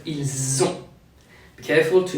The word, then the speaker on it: ils ont: French put a Z sound after il to do what we call a liaison. It's not ils ont, but ils ont.